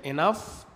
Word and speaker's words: enough: الحالة الثالثة الحرف الجي لو جه بعديه حرف الاتش ففي الحالة دي يا إما لا ينطقان وإما ينطقوا زي حرف الفاء ف في اللغة العربية.